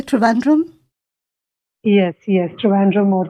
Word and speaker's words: Trivandrum: Yes, Trivandrum or Thiruvananthapuram.